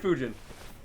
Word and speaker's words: Fujin: right fuji food is the green one pujin fujin yeah he said rai was the other one